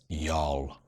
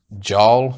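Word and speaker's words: Jarl: that citra hop was yol which is this one here now pronunciation wise i know some people may call it joel but i believe it is actually yol and i will get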